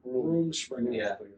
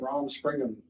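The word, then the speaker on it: Rumspringa: even started room what how do you say it room spr R springham room springham I've been saying ROM springham yeah that that's how it's spelled out but it's actually room spring so room spring but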